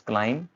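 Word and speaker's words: climb: Next आ जाएगा आपका पास form, it's क्लाइम and bomb, ना कि बॉम्ब।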